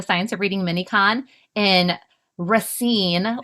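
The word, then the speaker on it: Racine: of reading minicon in Rine. Last time I was saying Rayine and I learned I was incorrect with my pronunciation Wisconsin.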